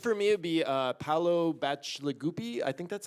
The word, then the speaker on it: Bacigalupi: I think for me it'd be Paolo Bacigalupi. I think that's how you pronounce the last name. Paolo Bacigalupi, yes.